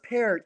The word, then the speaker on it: Peart: And they always say Peart because they want to get it. Because most people pronounce it Pert. Like, that's what people would say, most normal people. Most people just read it, they think it's Pert.